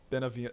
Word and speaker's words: Beneviento: Beneviento.